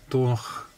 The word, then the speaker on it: Dornoch: So it's like a sound. So, Dornoch. It's like my maiden name, it's got a sound in it.